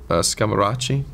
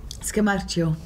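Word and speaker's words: Scamarcio: You know, Ricardo Scamaracci. Scamaccio.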